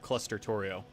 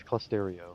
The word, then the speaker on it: Clusterio: If you've ever heard of Clustertorio, it's a cool server What? tool that lets you That's not what it's called. Clustorio. What's it called? Close. It's Clusterio. Clusterio. It's spelled Torio. Like cluster IO.